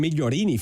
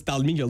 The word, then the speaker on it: Dalmiglio: Most people don't know how to pronounce it. You've got to be there. I was about to call him Migliorini for a second, but I realised it's Dalmiglio.